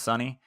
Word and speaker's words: Sonee: So she's on Spotify, Sonee, pronounced Sonny.